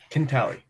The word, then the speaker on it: Cantali: Cantali. Cantali, sorry.